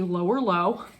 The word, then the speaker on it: Lower Leogh: nice sweater um so this sweater is the lower low that's how it's pronounced by mj michael stone from fair isle